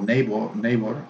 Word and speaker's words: neighbor: It's not neighbor or neighbor, no, neighbor.